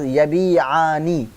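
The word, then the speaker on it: يبيعان: That is, if yabiu will be tasniya, then it will be pronounced as yabi'ani, having alif noon in the end.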